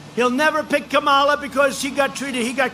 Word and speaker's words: Kamala: If you really take, you had Elizabeth Warren, you had Cory Booker, and you had Kamala. You know, if you pronounce her name wrong, she goes crazy. Kamala, like a comma.